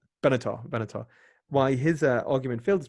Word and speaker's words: Benatar: Is it Benzar? Benatar.